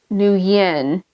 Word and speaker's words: Nguyen: Funny thing was, she said her name was Nguyen. But up here, so I went to school with there's a huge Vietnamese community up in my area. And everybody I know pronounces it Wen.